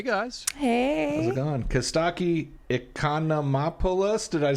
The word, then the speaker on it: Costaki Economopoulos: Costaki Economopoulos.